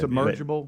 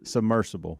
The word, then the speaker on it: submersible: why are you looking you did submergible but submerged submersible submersible okay let's just we know